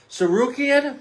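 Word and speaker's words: Tsarukyan: Sarukian, the T is silent, versus Dan Hooker.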